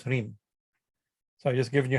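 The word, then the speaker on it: ह्रीं: The first sound of Hridaya is Hri, and therefore Hri with Chandra Bindu becomes Hrim.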